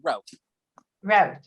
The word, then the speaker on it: Rauch: Did I pronounce that right? Rauch? Close, yeah, Rauch.